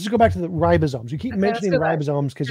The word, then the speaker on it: Ribosome: Ribosomes evolved after RNA was already there. Ribosomes. What? Ribosome is spelled R-I-B-O-S-O-M-E. Ribosome. I know how that's spelled. Okay, so... And why did you say ribozyme?